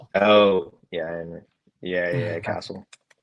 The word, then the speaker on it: Castle: Uh, Castell, how you pronounce the name? Castle.